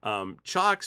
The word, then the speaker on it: Cioks: Cioks makes isolated power supplies, and it's CIOKS. It's spelled a little different than it sounds.